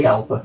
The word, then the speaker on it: Jalpa: And then we've got the Lamborghini Jalpa. Jalpa. Even though it's spelled Jalpa.